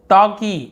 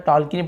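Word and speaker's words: talkie: रहा होगा आपको रुकी टॉकी एल साइलेंट होता है टॉकी टॉकी मूवी और एक देखते हैं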